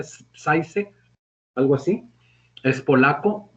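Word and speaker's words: Žižek: Hay otros filósofos como Zizek, se pronuncia Zizek, algo así, es polaco, y hay otro francés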